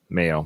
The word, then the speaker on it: Mayo: Mayo, like mayonnaise.